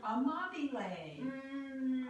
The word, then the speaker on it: Amabile: Amabile. Amabile. My daughter. Daughter A. Daughter A. Amabile. It rhymes with A. And it's cantabile.